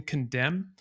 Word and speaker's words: condemn: the W in two, the N in condemn.